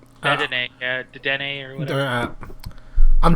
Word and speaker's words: Dedenne: It's Dedenne. Is that how? Dedenne, Dedenne or whatever. I'm Right terrible after that. with pronouncing names with like actually not hearing it.